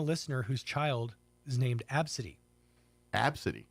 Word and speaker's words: Abcde: whose child is named Absy. Abs. Absy, which sounds nice, right? Sound I guess. Spelled ABCDE.